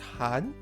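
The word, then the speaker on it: 寒: we already know this word in Chinese is pronounced Han as in Han or pan as discussed earlier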